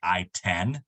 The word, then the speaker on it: ITIN: because it sounds like I10 1-0 maybe um that might be part of it but yeah it's uh individual tax identification number itin so it's kind of pronounced I-10 yeah and I mean